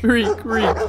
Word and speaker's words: Reek: Reek, rhymes with physique.